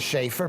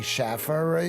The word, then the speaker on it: Schaer: getting it right well my name is schaer people say Schaffer you just got to